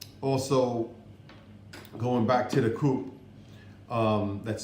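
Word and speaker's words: CUP: You can get your health card at what's called a COOP, but the spelling is C-U-P, okay? But it's pronounced COOP.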